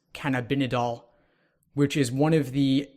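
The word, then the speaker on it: cannabidiol: by using CBD oil which is I believe pronounced can I've been a doll which is one of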